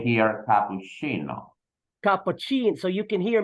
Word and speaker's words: cappuccino: teacher that in these with these two words we pronounce the Double C like ch the first word is cappuccino cappuccino so that's of course